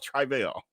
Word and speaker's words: Travell: the way but do calls himself trival I literally wrote it down again I was like he keeps saying travail I need y'all to hear him say his own name because everybody like you pronouncing it wrong I'm just saying with